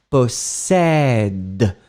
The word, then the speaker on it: possèdent: Possède. Et bien sûr, le ENT, vous ne le prononcez pas.